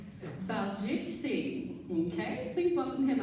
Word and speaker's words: Baljit: Baljit Singh. Okay, please welcome him up. Hi Rotarians. Again, my name is Baljit, B-A-L-J-I-T. So the L is pronounced.